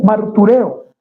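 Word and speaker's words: μαρτυρέω: una palabra en griego, martureo. Lleva tilde en la E, tal como suena, martureo, que puede usarse según el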